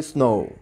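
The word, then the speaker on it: snow: আসলে এখানে খেয়াল করতে হবে যে উচ্চারণ অনুযায়ী হবে, দেখেন যদিও এখানে ডাব্লিউ আছে কিন্তু আমরা উচ্চারণ করতে গেলে বলি স্নো, তার মানে শেষে কিন্তু ভাওয়াল, শেষে কিন্তু একটা উচ্চারণ ভাওয়াল উচ্চারণ করছি।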